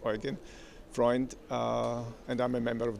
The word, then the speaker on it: Eugen Freund: That is Eugene, but pronounced Eugen Freund, and I'm a member of the European Parliament.